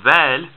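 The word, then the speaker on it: ذال: i said before it's like a soft th so it's not like thought but it's like then what is though it's voiced you your vocal chords are vibrating when you make the sound then then okay and just like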